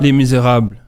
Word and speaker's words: Les Misérables: Oh, Pronounce it. oh. Les Misérables.